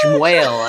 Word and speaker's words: Shmuel: So they were like, you'll be Shmuel. And I was like, oh, good. But it's like still because it's also like Shmuel is such a schlubby sounding like Shmuel. And it rhymes it sounds like whale.